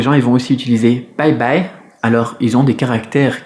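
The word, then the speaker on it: 拜拜: Donc dans l'usage, souvent les gens ils vont aussi utiliser bye bye. Alors ils ont des caractères qui se prononcent bye, le B il se prononce comme un B en français, et le I, eh ben, on l'a vu aujourd'hui justement, AI.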